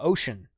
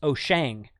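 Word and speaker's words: Wouxun: wuxen watson radios uh pronounced ocean every time i say ocean someone comes along and says no it's oh shang every time i say oh shang someone comes along and says no it's ocean you know what i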